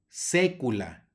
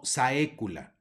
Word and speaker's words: saecula: decir principio principio luego tenemos una ae que va a sonar como e secula no saecula Y la siguiente palabra